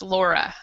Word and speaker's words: Lara: great yeah um yeah because in English the name is pronounced Laura yeah I know but Lara is perfect Italian yeah good yeah that's how you pronounce it also in Finnish and um others hi